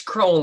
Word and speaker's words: Crowell: It's Crowell like bowl, but Crowell. similar to Glenmorangie, the distillery. Glenmorangie is uniformly mispronounced, and we just don't mind. So you can call me whatever you'd like. But you have the similar emphasis on the O. So bold. Yes. Crowell, exactly. Yes, exactly.